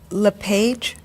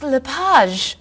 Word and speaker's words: Lapage: just a few minutes is your last name pronounced LePage it's Lapage actually oh that's beautiful thank you now is it MS Lapage or mrs.